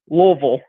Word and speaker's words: Louisville: well le your forget the i s and then replace the v and replace the i in vil with an louisville okay well it doesn't make sense i know but that's the way they pronounce their city okay so i'm gonna